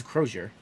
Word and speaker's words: Crozier: So when I looked up Crozier to try to see how a French person pronounces it, it was coming up as it wasn't a French word; it was an English word. So I think it is Crozier.